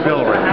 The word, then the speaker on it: Villere: Here with Roger, can you pronounce that again? Villere? Roger Villere.